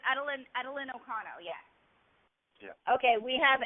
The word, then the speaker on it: Edelyn: Is it pronounced Edelyn? Okay. It's Edelyn Okano.